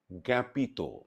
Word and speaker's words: জ্ঞাপিত: শব্দের আদিতে জ, ইয় এবং জফলাযুক্ত ব্যঞ্জন বর্ণের সঙ্গে যদি আকার সংযুক্ত হয় তাহলে সেই আকারের উচ্চারণ প্রায়শ একারের মতো হয়।